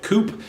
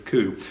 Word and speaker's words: Coup: who ever sees it it's gonna try to call it coupe and they're gonna go wide to pronounce Koo and you have to explain to them that that word is Koo but anyway this is